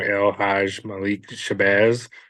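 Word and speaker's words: El-Hajj Malik El-Shabazz: to it I'm probably gonna say it wrong elj Malik shabaz is that right yeah you got it right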